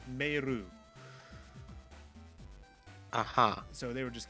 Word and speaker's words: Meiru: The anime, at least the dub of it, called her Meilu because they were using the lip movements from obviously the Japanese audio of the dub or of the anime, and because of how Japanese pronunciation works, her name was Meiru.